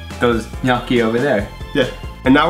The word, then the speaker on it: gnocchi: Yeah, most people would say gnocchi. Really? So again, GN is gn. So gnocchi, double C and CH, which is k. So it's gnocchi.